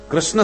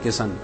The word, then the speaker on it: कृष्ण: बोल ना पावे बचारे कृष्ण शब्द का शुद्ध उच्चारण सब लोग नहीं कर पाते बोलेंगे किशन भारत का प्रसिद्ध शहर